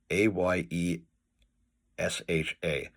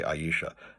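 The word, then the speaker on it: Ayesha: I know it's pronounced it's spelled A S H A and in British pronunciation they would say Aisha, but uh Haggard himself says it's an Arabic name and it should be pronounced Asha.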